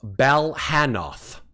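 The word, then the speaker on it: Balhannoth: It is pronounced Balhanoth.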